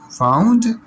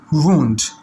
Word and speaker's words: wound: ہیں that is correct, اگر آپ اس کو وونڈ پڑھتے ہیں that is also correct. It's اپ ٹو یو ناؤ، یو may pronounce this word as wound اور wound.